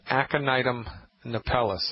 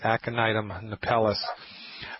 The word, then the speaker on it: Aconitum napellus: First I'll say it, and then I'll spell it. It's called Aconitum napellus.